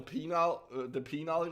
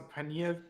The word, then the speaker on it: pineal: Do you want to know about the penile gland? I'm pretty Dude, sure it's pronounced a pineal Yeah, I know.